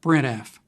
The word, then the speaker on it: sprintf: For that, we have the sprintf function, which means string print formatted, and it's often pronounced sprintf.